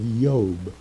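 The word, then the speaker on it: Iob: It's spelled I-O-B, and it is pronounced, the I is pronounced as a Y, so it would be the book of Job.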